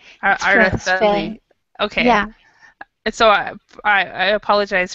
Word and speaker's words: Araceli: But in South America, it will be said Araceli, but in Spain we say, Araceli. We pronounce the C.